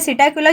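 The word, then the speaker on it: Psittacula: इसके बाद आता है सिटाकुला। इसमें पी साइलेंट है। सिटाकुला जो है ये होता है पैरट।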